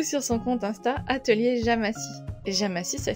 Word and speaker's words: Jamacy: toi qui animais le compte de Jo Atelier Jamassi.